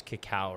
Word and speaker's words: cacao: pronouncing this wrong is it's not Coco it's cacao right so Cacao is the